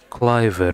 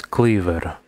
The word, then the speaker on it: Cleaver: so this is dunstan so it's not cliver it's cleaver cleaver okay so when the